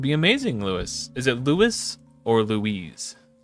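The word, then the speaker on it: Luis: amazing LS is it lwis or Louise I know there's a professional Magic the Gathering player who pronounces it Louise Louise Scott Vargas yeah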